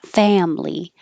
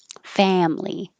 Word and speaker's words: family: So make it two syllables, family. And we'll have a lot of words with the vowel a. So it's good practice. Remember to keep your lips back. Family.